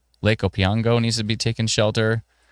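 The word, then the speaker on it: Opeongo: Spruel Township, Whitney, Along Park, um, Lake O P E O N G O, Opango, Lake Opango needs to be taken shelter.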